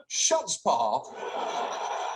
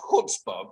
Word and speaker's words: chutzpah: First of all, shutspaw is actually pronounced chutzpah, but the idea that daily fantasy sites are